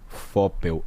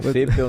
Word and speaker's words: Foppel: É @Gamil, Gamil, Foppel, Foppel, Gamil Foppel. Que é um dilema, né, professor, esse nome? Na verdade pronuncia Feipel, né, mas é mais fácil